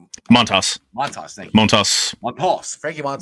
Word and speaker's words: Montas: Montas, thank you.